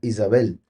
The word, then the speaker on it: Jezabel: la cabeza eh entonces Jezabel curiosamente a través de manipulaciones Sí el nombre originalmente se pronuncia Isabel Y si usted lo